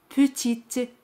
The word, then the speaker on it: petite: Pequeña es petite. Petite. Aquí T se pronuncia al añadir la letra E. Petite. Pero E al final no se pronuncia.